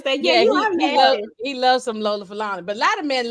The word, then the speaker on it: Lola Falana: Lola Falana.